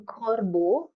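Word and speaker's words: corbeau: they pronounce together so b e a u is pronounced as Bo e a u is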